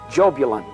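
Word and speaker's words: Jahbulon: The name is Jobulon. It is a combination of three words, Jehovah, Baal, and Osiris, the Egyptian sun god. Yah, Baal, on.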